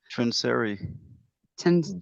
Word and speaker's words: Trinseri: Mike, how do you say his last name? Trinseri? Trinseri. Yeah, Trinseri.